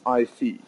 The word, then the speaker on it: Isis: Pronounced IC.